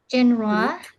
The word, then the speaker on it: genre: For number 1 is film, seperti biasa, and then movie, flick, genre, genrenya, ra-nya tebal. Genre, and then plot.